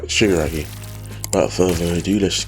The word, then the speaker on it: Shigaraki: I think I must pronounce it. I think it's Shimura? Nope, I was right. Shigaraki.